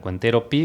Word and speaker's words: Cuentero PY: Cuentero Pi, pero con Y. Que es como Cuentero Pi. Nosotros decimos P, ¿verdad? Porque la Y en guaraní se pronuncia así gutural.